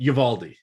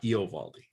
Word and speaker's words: Eovaldi: And Uvalde, not Eovaldi.